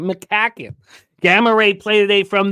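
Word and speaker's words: McCaughan: Doesn't look like it would be pronounced McCacken. But that's how Darren pronounces that last name. McCacken.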